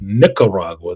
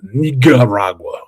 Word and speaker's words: Nicaragua: That's Nicaragua, not Nicaragua. Okay, y'all? Just get it straight. Just pronounce it correctly.